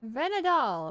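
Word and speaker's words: Vhenadahl: tree of people I believe the venad dool venad dool that's how you pronounce it pretty tree how do you even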